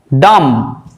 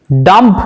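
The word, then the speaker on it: dumb: কিন্তু বি থাকবে lamp ডাম ডাম্প নয় ডাম মানে হচ্ছে বোবা অর্থাৎ যে কথা বলতে পারে না ডাম।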